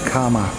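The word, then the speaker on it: kamma: here and in and in ply language they call it Kama written k a m m a instead of karma k a r m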